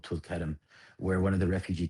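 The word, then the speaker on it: Tulkarm: That's um that's that's a city um outside of the Nabasin area called Tulkam where one of the refugee camps this year was brutally brutally assaulted.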